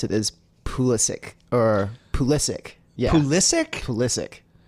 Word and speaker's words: Pulisic: that there's on FIFA the commentators will say pulish but apparently the way that you're supposed to pronounce it is pulisic or psic yeah pulisic psic what did the